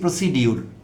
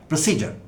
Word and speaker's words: procedure: সবাই মিলে ইংরেজির অধ্যাপকও আমরা বলছি প্রসিডিউর, সেটি একটি বাজে উচ্চারণ, কোনো উচ্চারণই না। এটি সঠিক উচ্চারণ হলো প্রসিজার।